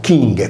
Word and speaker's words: Cinge: Ver, simile al Vir, traduce la Virilità, Cinge, pronunciato chinghe come in sardo, era la terza persona singolare del verbo Cingere, mentre Torige, che riprende il latino Turriger, vuol dire Turrito.